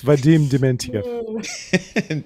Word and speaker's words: Vadim Dementyev: I hope I pronounce it right. You made me nervous now. It's Vadim Dementyev. There it is, ladies and gentlemen. Vadim Dementyev.